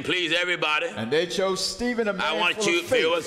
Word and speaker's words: Stephen: holy ghost all right they chose stephen or as some pronounce stefan a man full of